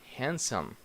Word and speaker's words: handsome: okay the other one handsome this is actually a sub that are actually two silent letters here D and is a here so I say hand some handsome handsome okay this one that we